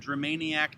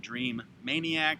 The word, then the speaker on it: Dramaniac: and maniac m-a-n-i-a-c but there's only the one m with germaniacs so it's not dream maniac it's dramaniac tv on youtube i will